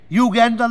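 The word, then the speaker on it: Uganda: ইউগান্ডার লোক, ওই তোমরা যাকে ভুল উচ্চারণ উগান্ডা বলো, 8.5 ফুট হাই, 54 ইঞ্চি ছাতি, 350 কিলো ওজন।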